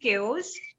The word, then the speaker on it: chaos: Amin Amin tell me the pronunciation is Kos and meaning is chaos or I I'll tell